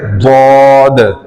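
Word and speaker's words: ضاد: वो जो है ना उर्दू के अंदर जद है और अरबिक में जो असल वर्ड है ना वह है दद और इसका जो प्रोनाउंस है वो यही है जैसे मैं पढ़ के बता रहा हूं और इसका जो तरीका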